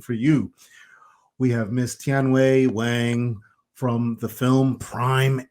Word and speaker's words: Tianwei: Hi, I'm Tianwei. Is that the right way to pronounce her name? Tianwei, Yes, right? that's correct.